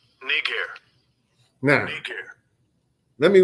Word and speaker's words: Niger: up here it is now I'm gonna let you hear how they pronounce it Strong's G 35 26 knee care no thank you let